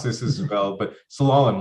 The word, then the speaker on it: Slalom: I can't pronounce this as well, but slalom, like this skiing when you go down.